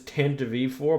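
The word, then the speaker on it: Tantive IV: Also, the correct pronunciation is Tantive4, but I'll never say that shit.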